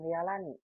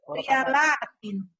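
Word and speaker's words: ريالات: Ria, ya-nya panjang. Riyalatin.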